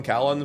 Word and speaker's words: Callan: No worries, I'm Callan. Think of Scallion without the S. Oh, okay, so it is Callion.